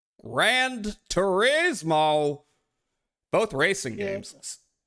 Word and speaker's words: Gran Turismo: 1 Championship Edition and Grand Turismo. Grand Turismo. Did they spell it? Yeah, they spelled it wrong. There's no D in Gran Turismo. What the hell? Gran Turismo.